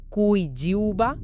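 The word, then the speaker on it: 七九八: Explican que en chino mandarín la pronunciación de 798, Kui Jiuba, suena muy parecido a la frase Ku Siba, que literalmente significa vete a morir.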